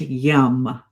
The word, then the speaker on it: yam: And the sound associated here is yam but pronounced yum.